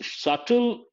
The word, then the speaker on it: subtle: Nuances means subtle shades, subtle differences. The letter B is silent.